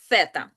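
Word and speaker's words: zeta: І остання буква алфавіту - це літера сета. Фета не змінює своє прочитання ніколи. Вона завжди читається як с, так само, як це перед еі.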